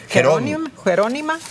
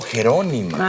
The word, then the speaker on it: Jerónima: Jerónima. Oh, Jerónima. Ajá. Acento en la O.